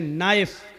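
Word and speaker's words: knife: जैसे इंग्लिश में नाइफ किसको कहते हैं, चाकू को। नाइफ के माना चाकू, लेकिन के लिखा जाता है, बोला नहीं जाता, वो साइलेंट रहता है।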